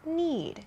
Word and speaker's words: knead: at this point need k-n-e-a-d is spelled differently from need and eed both of these are verbs but they sound the same and they have different